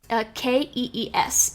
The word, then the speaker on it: Kees: Kees. It's also somewhat commonly spelled Cees. But pronounced like Case, Case. Yes, correct. Okay.